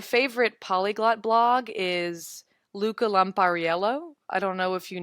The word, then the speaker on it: Lampariello: Yeah, Luca Lampariello.